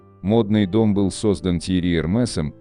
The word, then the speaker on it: Hermès: 1837 году, и поэтому правильнее говорить не Гермес и не Эрме, а Эрмес с ударением на последний слог, или Эрмес, если ближе к английскому произношению. Кроме того, акцент над «и» во втором слоге предполагает прочтение буквы «с» на конце слова.